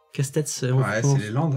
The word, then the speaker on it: Castets: On dit Castet ou Casse-tête? Casse-tête. Casse-tête, c'est Ouais, c'est les Landes. Hein. Jusqu'au S, on prononce. Ouais, il y a un S, on le dit, ouais.